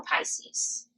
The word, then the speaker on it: Pisces: Now, the fact that, like, I didn't know how to pronounce Pisces until somebody was like, it's not Pisces. You said Pisces? Yeah, I said I'm a Pisces. Like Reese's Pieces?